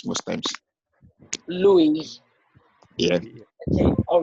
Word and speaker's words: Louis: Yeah, even though the X is silent most times. Louis.